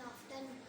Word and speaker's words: often: के साइलेंट है। Good. Okay next Shyam. Yes. हाँ जी, रीडिंग कीजिए बेटा। He often asks up. आफ्टर word होता है, नहीं often.